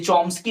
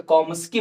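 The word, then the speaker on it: Chomsky: जी हाँ, ये चॉम्स्की नहीं है, सीएच नहीं पढ़ते, इसको साइलेंट है, ठीक है, तो कॉम्स्की बोलते हैं, नोआम कॉम्स्की, ठीक।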